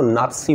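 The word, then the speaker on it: Nazi: उच्चारण यही होता है नाजी एन ए स आई हिटलर की पार्टी थी नाजी पार्टी उसको एक्चुअली नाजी नाजी नहीं बोलते हैं उसको एक्चुअली नाजी नहीं बोलते हैं उसको नापसी बोलते हैं इस तरह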